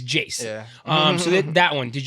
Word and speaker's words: iayze: features on like this new one with with Jace right that's how you pronounce it I always see I always when